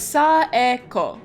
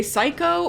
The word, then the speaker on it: Saeko: Turns out it's a Japanese name, so it's Saeko. Saeko. I'm probably still gonna mispronounce it if I'm saying it a little fast, but I'm gonna be doing my best shot. So if I accidentally say Psycho or just Sako by accident, please know it's not my intention. I'm trying my best to pronounce it correctly.